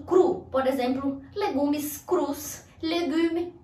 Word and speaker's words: cru: Essa palavra aqui, que é o passé composé do verbo acreditar, o cru, cru. Eu acreditei, j'ai cru, ou o cru pode ser também igualzinho no português o cru, por exemplo, legumes crus, legume cru, cru.